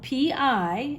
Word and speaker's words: pi: this symbol is spelled p i and pronounced pi like you would have a piece of pie and this symbol is